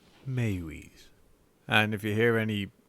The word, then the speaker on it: Meiwes: sure it is like i before i researched it i got on the google and did the whole pronunciation thing and instead it was maywee's mayweaves and if you hear